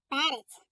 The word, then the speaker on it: перець: Перець. Кличемо його. Перець. Наголошений е.